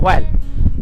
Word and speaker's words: while: সে যখন আর্ট স্কুলের স্টুডেন্ট ছিল, হোয়াইল, এখানে হুইল না, এটা উচ্চারণ হোয়াইল, যখন সে ওই আর্ট স্কুলের সে ছিল ছাত্র অবস্থায় ওই স্কুলের টিচার হয়েছে।